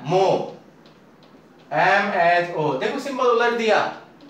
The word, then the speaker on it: mho: इसमें उसका उल्टा हो जाता है, मो, MHO। देखो सिंबल उलट दिया, ओम का उल्टा कर दिया तो क्या हो गया? महो नहीं, बहुत सारे महो महो करते हैं, मो, एच साइलेंट होता है।